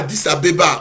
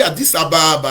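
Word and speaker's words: Addis-Abeba: addis abeba en ethiopie on dit pas 10 abeba ont dit addis ababa a dit chabab parce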